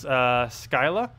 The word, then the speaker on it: Scylla: see the devs confirmed on their stream it's pronounced Scylla isn't that how I was saying so you